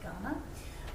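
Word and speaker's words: Kaurna: So when we talk in Australia about Ghana land, we spell Ghana K-U-A-R-N-A, so when you see that word, it's pronounced Ghana.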